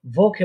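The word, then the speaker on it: Woche: আবার ওকে বলবেন না, কারণ এটা আমরা দেখেছিলাম এটা ভে, ডাব্লিউটা কি উচ্চারণ করার পারে ভে, তাহলে হবে কি ভোকে।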